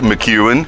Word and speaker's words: McCuin: away we go McEwan mmm am i pronouncing that properly yes all right so we're